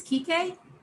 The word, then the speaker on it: Kike: His name is "kee kay." He's on the West Coast. Chris: Oh, man. Tori: His name is "kee kay." And it's spelled K I K E. It's not the slur.